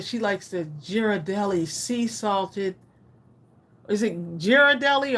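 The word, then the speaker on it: Ghirardelli: G type it in hard G on giradelli giradelli rather giradelli Ali Moore says are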